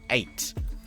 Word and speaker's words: ajT: easier option for ajt apparently it's pronounced eight at at which makes sense cuz often the J is silent isn't it so yeah it's that